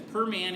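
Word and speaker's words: Primanti: it works so yeah it's Perman even though it's spelled Pandy and if you're not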